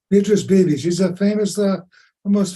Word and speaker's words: Beatrice Beebe: that you met, Beatrice, and how do you pronounce her last name? Beatrice Beebe.